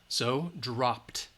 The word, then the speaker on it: dropped: it's voiceless all right we're going to add the T dropped all right P is voiceless put put put dropped okay if it's a